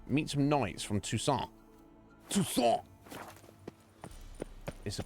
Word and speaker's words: Toussaint: Toussaint is the correct pronunciation. Toussaint is the exact pronunciation.